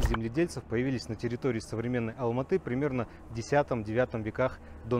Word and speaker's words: Алматы: буквальном смысле на ладони алма-ата на русский манер и по старому названию города алматы с ударением на последний слог на казахский манер а до 1921 года